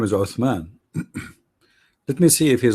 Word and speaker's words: Uthman: It's Uthman. The correct is Uthman, not Osman. Osman, because you don't have. Actually, in Arabic, in English, we have like the thunder. Th. The correct way to say it is Uthman. Th. All right. Yeah, not ot. It's the same as you say thunder.